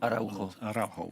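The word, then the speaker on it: Araújo: Et donc, notre ami de Barcelone, Araujo, c'est comme ça qu'on prononce. Araujo. Parce qu'on a deux spécialistes ici.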